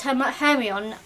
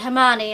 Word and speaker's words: Hermione: because I really did I thought she was her hairy on until the uh film release and they said Hermione I'm like what what